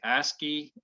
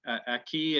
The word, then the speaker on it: Aki: In Edmonton, Camrose, you might say ASCII. Aki is a Ojibwe pronunciation of a word that means earth foods.